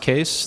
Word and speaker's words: Kees: a quick intro I'm case it's pronounced case the spelling is Dutch and it's my grandfather's